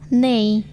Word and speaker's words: knee: hangover, Silent K. K is not pronounced when followed by N at the beginning of a word. knife, Knee, no, knock. knowledge, Silent L.